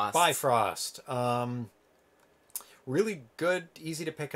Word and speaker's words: Bifröst: to look for it Eve roost B roost I can remember the pronunciation by frost really good easy to